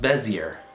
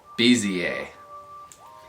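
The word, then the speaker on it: Bézier: busy I'm not serious pronounced Bezier I did that incorrectly it's busy a busy a bza almost like you're just saying the letters b za b za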